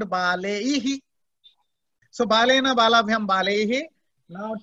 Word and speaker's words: बालैः: Because here it is eihi, so you have to sound baleihi.